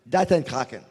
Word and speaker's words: REcon: How do we pronounce REcon? REcon.